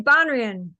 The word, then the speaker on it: Banrion: How do I pronounce That's okay. Banrion.